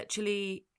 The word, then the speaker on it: Chile: The Chile uh Chile Chile that's how it's pronounced.